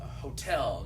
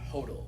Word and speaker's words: hotel: Same thing like a hotel, not hodl, and all things like that.